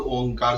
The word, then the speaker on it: ओम: अर्थात उ आ म ओम का ओम भी इसी तरह उच्चारण होता है।